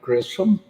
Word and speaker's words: Grissom: us awesome awesome so am i am i pronouncing your last name right grissom yes okay awesome i don't want to get